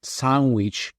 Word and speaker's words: Sanguich: It's the typical tale of, what onomatopoeia, which is basically it's pronounced the way it is spelled, but pronounced in Spanish, right?